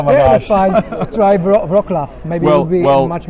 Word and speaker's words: Wrocław: came several years ago, I used the Texan pronunciation, which is Rocklaw. So if you see this city spelled as a Texan, you would say Rocklaw. That's how you would say it in Texan.